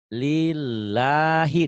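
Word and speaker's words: لِلَّهِ: alhamdu alhamdu segala puji lillahi tuh kalau ada yang panjang berarti e enggak usah dirubah ini gitu tuh lillahi a-nya di atas di atas a-nya ada garisnya berarti panjang dia tapi kalau saya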